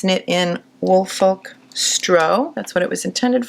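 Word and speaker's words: Strå: it's knit in wolfkolk stro. That's what it was intended for. S t r a. The a has that little circle over it. So I think you pronounce it as an o.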